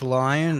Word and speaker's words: Lion: Is it Lion Exotics or is it I would assume Lion? it's Lion, the I assumed it's Lyon. two, but I was like, maybe I'm saying it wrong.